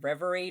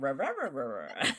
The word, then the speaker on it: Reverie: true crime reverie remember it's reverie not revered oh geez i am